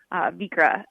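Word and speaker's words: Vikre: But first of all, spell it, because it doesn't spell like it sounds. Right. So Vikra is our last name, but it's also Norwegian for bay, people of the bay. Vik is the Norwegian word for bay. So it's spelled V-I-K-R-E, Vikra.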